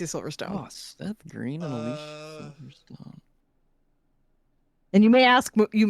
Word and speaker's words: Alicia Silverstone: And I'm saying it the right way. Her She has gone on record to say her name is Alicia Silverstone.